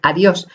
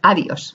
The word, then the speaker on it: adiós: También todas las palabras agudas, es decir, las que llevan el acento o la mayor intensidad en la última sílaba y que acaben en vocal N o S, adiós, para que no lo confundamos y digamos adiós, ¿vale? Y la convirtamos en llana.